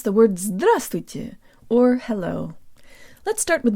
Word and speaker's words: здравствуйте: on Kira and today you learn how to pronounce the words thrust with you or hello let's start with the first syllable